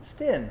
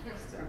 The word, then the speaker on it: Stein: Stin, rhymes with chin. Gets used to everybody saying that probably. Or no, it's just me. It's pretty normal. Stin, Stein.